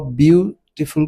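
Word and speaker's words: beautiful: देखिए जब भी आप ब्यूटीफुल को प्रोनाउंस करते हैं तो आप जो पहला सिलेबल है ब्यू इस पे थोड़ा प्रेशर डालते हैं।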